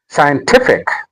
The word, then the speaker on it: scientific: strategic And then scientific scientific The stress is on te.